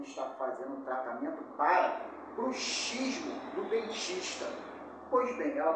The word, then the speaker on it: bruxismo: Relembrando, bruxismo tem a ver com dentes e bruxismo com bruxas. A escrita destas duas palavras é a mesma, mas a pronúncia é diferente.